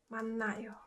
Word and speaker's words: 만나요: So I think you guys can guess how it's pronounced. 으느, 만나요, right?